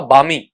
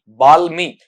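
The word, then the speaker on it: balmy: आपका बामी। बालमी ऐसा नहीं पढ़ा जाएगा। क्या बोला जाएगा इसे आपका? बामी पढ़ा जाएगा।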